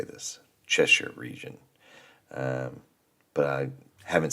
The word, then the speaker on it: Cheshire: um as an American our brain is trained to look at that word sh sh i r e and say Shire just automatically it's just